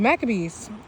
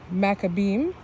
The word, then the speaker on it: Maccabees: Lord okay so The Maccabees and I'm pronouncing them in the more English version in Hebrew is maccabeem macrobeam okay where the leaders